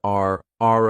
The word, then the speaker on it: our: Notice our I did not pronounce this as our I said are a very reduced sound.